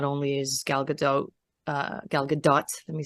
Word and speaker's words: Gal Gadot: person for the role, because not only is Gal Gadot, let me say her name properly, beautiful on the outside, but I think she really embodies what Wonder Woman really is.